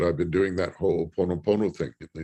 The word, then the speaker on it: Ho'oponopono: So it's HO'OponoPONO.